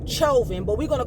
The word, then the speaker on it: Chauvin: a newscast to say his last name was chauvin i say try you then i pronounce it how i see it but she said derek chovin but we're gonna call